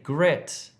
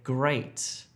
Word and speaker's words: great: Don't say gret if you're trying to say great. Gret, great.